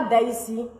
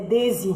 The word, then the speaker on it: Daisie: Et puis quand vous voulez me critiquer, là, prononcez bien mon nom, je n'aime pas. Je comprends pas. C'est pas Daisy, c'est Daisy.